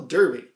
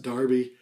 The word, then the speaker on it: Derby: I'm going with the one from the 1970s, Digital Derby. And I know there's going to be a lot of UK watchers who are going to say, even though it's spelt D-E-R-B-Y, it's actually pronounced Darby.